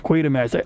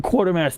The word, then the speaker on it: Quatermass: Because like I was doing Quartermass too. I think someone else pronounced it Quartermass.